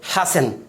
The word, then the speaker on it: hasten: अगला example LISTEN, क्या pronounce करेंगे, लिसन। अगला एग्जाम्पल HASTEN, क्या पढ़ेंगे, हसन।